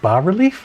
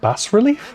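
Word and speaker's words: bas-relief: Wait, it's pronounced bar relief, not bass relief.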